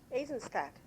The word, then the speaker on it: Aizenstat: You'll have to pronounce my name correctly. Aizenstat.